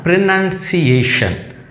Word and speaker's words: pronunciation: അതിൻ്റെ അടുത്ത പ്രയോഗമാണ് അതിൻ്റെ നൗൺ ഫോമാണ് പ്രിനൺസിയേഷൻ. പ്രിനൺസിയേഷൻ, ആ ഏഷൻ അവിടെയാണ് സ്ട്രെസ് വരുന്നത്.